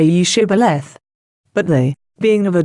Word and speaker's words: Shibboleth: that way, say ye Shibboleth. But they, being of a different tribe, could not frame to pronounce it aright, and pronounced it Sibboleth, which trifling defect proved them to be spies, and cost them their lives.